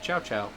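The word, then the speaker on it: CiaoCiao: change home change then her little name is Chow Chow yes but it's spelled like the Italian ciao yeah CIA oh yeah I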